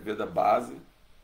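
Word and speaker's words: Vedabase: base Veda Basic né se escreve vda base mas pronuncia vda Bas vamos lá então namô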